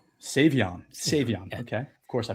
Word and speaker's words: Savion: I'm going to botch it, but Shavon Williams. Is that right? Savion.